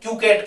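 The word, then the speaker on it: coquette: क्रोधी टाइप की है, उतावली है, उसको क्यूकेट कहते हैं। क्या कहते हैं? कुकेट। कोकेट भी कह सकते हैं, स्पेलिंग COQUETT, कोकेट कहलाता है ये, ठीक है।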